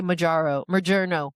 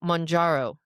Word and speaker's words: Mounjaro: I used to say Majaro. Majerno is what we Oh, were saying. but that is how you say it though. No, Monjaro. Monjaro. Yeah. It's Mounjaro. Monjaro.